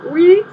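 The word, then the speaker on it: oui: Do you know that you spell we like as in French we? Like, not we like we, but we like. Yes, we. Not we like us, we, you know, but we, like yes, in French. You spell it O-U-I.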